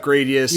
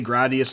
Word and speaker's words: Gradius: Gladius yeah whatever because it's supposed to be a name of that uh Roman sword type yeah so what this